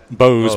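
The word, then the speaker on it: Bowes: It's spelled Michael, as Michael would be with E-E, so it's Michael Lee. Bose, B-O-W-E-S.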